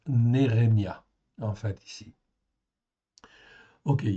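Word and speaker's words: נחמיה: Ça se prononce Nérémia en fait ici.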